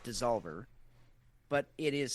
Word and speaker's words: DSSOLVR: The brewer's name is, I guess I'm going to pronounce it Dissolver, but it is spelled DSS. I guess that's an O. DSSOLVR, Dissolver.